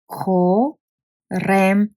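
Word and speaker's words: корем: Ko, rem, which is belly.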